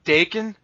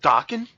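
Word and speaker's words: Daken: Like, we always say Dakin, but apparently I heard lately that it was actually supposed to be pronounced Dokken.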